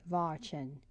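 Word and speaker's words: Watschen: she was given what was known as Vin pronounced Vin in the corridor Vin a good hiding place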